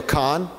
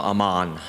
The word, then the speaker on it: Amen: Daniel Kahn? No, Ammann. Ammann, no, nothing. Oh, you not heard of it? Okay. Ammann, Dr. Ammann. Okay, so I said it wrong.